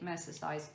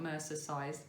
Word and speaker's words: mercerized: I'm making this out of Drops Musket, which is a DK mercerized cotton. Is that the right way to say it? Mercerized, not mercer-sized, mercerized cotton.